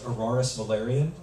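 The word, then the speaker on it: Araris Valerian: codex okay first question was what's the proper pronunciation of Fade's name and that's aorus Valyrian and uh uh and the second question is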